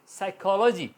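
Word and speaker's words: psychology: रहेगा आवाज नहीं करेगा इसी तरह साइकोलॉजी साइकोलॉजी एस की आवाज ए रही है साइकोलॉजी पी साइलेंट होता है जब वह इससे पहले आता है इसी तरह शाम एस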